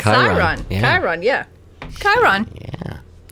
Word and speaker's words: Chiron: And that was Mara, Mara pronouncing said Chiron.